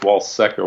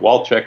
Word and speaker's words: Walcek: here with my friend Chris Walczyk I'm pronouncing it right Chris yes that's good there has been debate about it whether it's wall sector wall check but wall check is okay Chris and I have